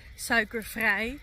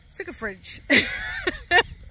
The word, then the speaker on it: suikervrij: He said it wrong, and he said suikervrij. He said suikerfridge.